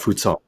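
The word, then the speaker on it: Fou Ts'ong: Yes, that's the old romanization, which means it's pronounced unvoiced.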